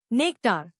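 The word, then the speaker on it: nectar: नेक्टार नया लफ्ज नेक्टार इसको तोड़ते हैं नेक्टार जोर नेक पर है।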